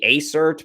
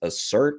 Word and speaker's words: ACERT: I used to say ACERT, but Cat likes it to be pronounced assert, apparently.